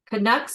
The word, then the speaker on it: Canucks: Kucks. Is that how you say it? Yes, that's how we pronounce it here.